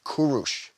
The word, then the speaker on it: Kūruš: He was born to a small Persian kinglet and his queen as Kurush. The Greeks called him Kyros, which the Romans then pronounced Syros, before finally ending up Cyrus in English.